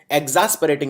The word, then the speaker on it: exasperating: सबसे पहला है एग्जॉस्परेटिंग। याद रखिए शब्दों का उच्चारण भी बहुत जरूरी होता है। सही, इसको एग्जास्परेटिंग नहीं एग्जॉस्परेटिंग प्रोनाउंस किया जाता है।